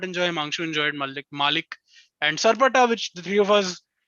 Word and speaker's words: Malik: mm, Malik is the correct pronunciation.